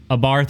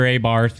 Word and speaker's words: Abarth: Chrysler, Dodge, Ram, Mopar, Fiat, Abarth or Abarth, depending on how you pronounce it, Maserati, Abarth, Alfa Romeo, Lancia, Citroen, DS Automobiles, Peugeot, Opel, and Vauxhall.